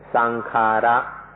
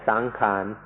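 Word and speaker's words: saṅkhāra: you if you can remember the Pali word, which is sankhara, sankhara. ในประเทศไทยเราเปลี่ยนเสียงนิดหน่อยเป็นสังขารสังขารในภาษาไทย Thais make it a little easier to pronounce and say sankhan, sankhan. But in English books it will be spelled out sankhara.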